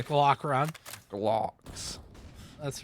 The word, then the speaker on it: Glock: Glocks with a W, by the way. That's how you say it. It's Glock round. Glocks.